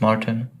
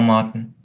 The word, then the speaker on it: Marten: And is it Marten, or have I been saying that wrong the whole time? No, you said it right. It's Marten. Or Martin. Something like that, yeah. Marten sounds very American, actually. So Marten in German?